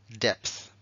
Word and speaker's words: depth: t y luego le ponemos la th Deep depth claro Deep con dos es Es más típico que se pronuncia Deep una y larga mientras que esta y que se ha quedado solita va a ser depth y el verbo deepen se coge del adjetivo